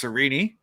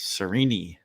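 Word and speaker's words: Sarene: It's Sereni. um is how it's pronounced even though it looks like Serene. Uh that's the way it's spelled. S A R E N E, but it's Sereni.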